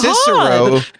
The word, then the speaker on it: Cicero: So instead of Cicero, it's Cicero. And it's not Veni Vidi Vici, it's Veni Vidi Vici. And so I learned, that's the Latin I learned, was hard C.